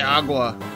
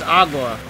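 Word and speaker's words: agua: I want to drink I would just say AWA at least that's at least I think that's how you say water in Spanish how you pronounce it anyway it's AWA I'm learning all right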